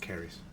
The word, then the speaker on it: Cerys: I always thought it was Cerys actually, because I think is it Cerys Matthews from the singer, it's pronounced Cerys. But she's Welsh, and these people are Irish, so maybe. But it's Cerys.